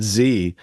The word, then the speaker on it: Xe: So there's a reason Blackwater had to rebrand as XE and pronounce it Z, so that like it's harder to track down and trace and database on what they're doing out there, right?